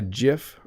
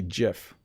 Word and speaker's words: GIF: it says that it's supposed to be GIF but I say GIF or GIF I think I say GIF I think that's what I say most often uh let's see here